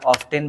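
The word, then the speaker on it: often: number पे रखा है ऑफेन को ऑफेन को हालांकि आप ऑफ्टन भी प्रोनाउंस कर सकते हो उसमें किसी प्रकार की कोई गलती नहीं है तो आप इसका यूज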